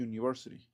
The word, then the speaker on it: university: Porque esta empieza con un sonido. El sonido sería la y o la j, el símbolo fonético y university.